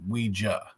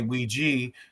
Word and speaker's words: Ouija: It's a it's a common question I get and the brand itself is pronounced Ouija. But you're not wrong if you say Ouija because if you ask someone if they use the board you would ask them to say Ouija.